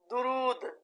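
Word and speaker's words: درود: असरो रुसूख, दिफा, दिफा, दुरूद, दाल के ऊपर पेश है, दुरूद, रकाबत, रविश, रकाबत,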